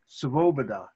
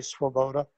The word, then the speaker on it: Swoboda: My old friend called, he was Paul Svoboda. Svoboda. That's the other way. That's the proper way. Okay, and how's yours pronounced? We say Swoboda.